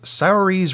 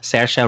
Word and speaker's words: Saoirse: you then she's up against and I'm gonna mispronounce it Sarris Ronan for Lady Bird yeah pardon Sasha Sasha Ronan Saoirse Ronan Margot Robbie for I Tanya